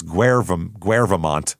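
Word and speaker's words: Guèvremont: It's Guvant, but it looks like government.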